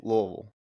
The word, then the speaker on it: Louisville: you say it Louisville we around here sayou lville lville is that what about Lou what about